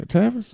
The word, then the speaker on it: Tavis: Yeah, Tavis.